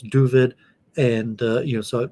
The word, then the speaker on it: Dooovid: with four o's uh duvid like with a u instead of an a like david it's just david the